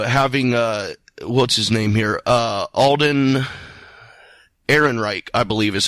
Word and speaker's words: Ehrenreich: script you know having uh what's-his-name here Alden Ehrenreich I believe is how you pronounce the last name having Alden go go